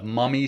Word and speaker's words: MVMI: it's the uh The Mummy sleep pillow and that's it's spelled kind of differently than you may expect it's spelled m v m i so the V is is pronounced like a u so mummy sleep and